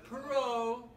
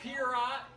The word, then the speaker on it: Perot: Because that's how you say his name, is Perot. It's not Mad. Not Pierrot.